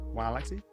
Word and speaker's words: Waalaxy: Waalaxy? That's how you pronounce it.